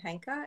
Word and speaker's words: Henkaa: pronounce the the name henka and arleigh sandra actually based the name on a japanese word that's called henka and it means change